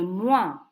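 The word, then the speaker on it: mois: for month is and the o plus I makes the VA sound Le moi and the word for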